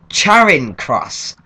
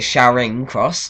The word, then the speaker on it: Charing Cross: like well sorry but I've always pronounced it Shing cross not Shon or Charing or whatever other you want to call it I I've always pronounced